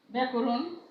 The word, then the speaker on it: ব্যাকরণ: যেমন দেখো ব্যাখ্যা, এটার উচ্চারণও কিন্তু একই হবে। হ্যাঁ, একারান্ত হবে, এর মতো উচ্চারণ হবে। ব্যাকরণ, অর্থাৎ আদ্য জফলা যুক্ত ব্যঞ্জনের পরে যদি আকার থাকে, এই যে আদ্য জফলা যুক্ত ব্যঞ্জন তার সঙ্গে যদি আকার থাকে, তাহলে সেই জফলা যুক্ত ব্যঞ্জনটি উচ্চারণ একারান্ত হবে।